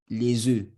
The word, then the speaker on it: les œufs: The consonant that follows the EU is not pronounced.